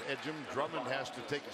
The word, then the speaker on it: Ejim: It's E-G-I-M. Pronounced Ejim.